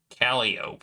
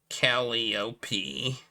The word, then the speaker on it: Calliope: The Greek muse by the same name is pronounced Calliope, but the instrument was usually pronounced Calliope by people who played it.